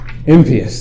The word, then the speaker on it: impious: he was actually impious, which is technically how you pronounce lack of piety, impious, then he would have